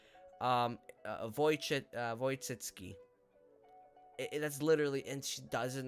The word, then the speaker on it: Wojcicki: Wojcicki. That's literally, and she doesn't know that, and I'm like, oh wow, that's surprising, because this is like the W is pronounced like a V.